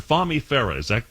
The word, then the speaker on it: Fahmi Farah: I hope I'm getting the pronunciation close to being right, Dr. Farah. Dr. Fahmi Farah.